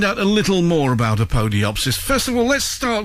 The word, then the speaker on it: Apodyopsis: then one of you the pronunciation is a podiopsis a podiopsis uh a fine name